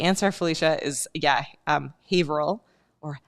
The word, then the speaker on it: Haverhill: okay sorry the answer Felicia is yeah um Haverhill or Haverhill if you want to mispronounce it uh or Exeter yeah we can